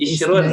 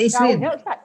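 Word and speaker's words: عشرون: Jadi Wahid isrun ya. Oh, isrun. Isrun. Bisa isrin. Mana ini ya? Wahid. Wahid jadi 10-nya asyarah. 10-nya asyarah. Jadi asyarah, isrun.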